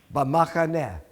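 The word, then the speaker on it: במחנה: No, not be. Ba. Bamachane.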